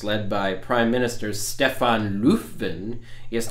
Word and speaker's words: Löfven: by Prime Minister Stefan Löfven, yes, not Löfven as it's spelled, Löfven, and the Sweden Democrats,